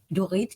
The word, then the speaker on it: Dorit: go to elegantly raw do it d-o-r-e-e-t i'm spelling it phonetically slash california food festival